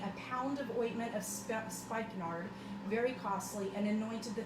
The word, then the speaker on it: spikenard: had no idea it's referred to as spikenard i think is how you pronounce it s-p-i-k-e-n-a-r-d um which is the